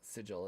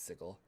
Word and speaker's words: Sigil: uh reading chat yeah it's not pronounced uh sigil let's pronounce sigel sorry i can send